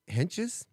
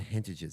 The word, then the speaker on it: Henches: It's Clint and Julie Henches. Yes, that sounds right. I I've always said hintages, so sorry.